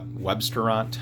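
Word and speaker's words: Webstaurant: Websterant, I think is how you say it, W-E-B, and then restaurant has a lot of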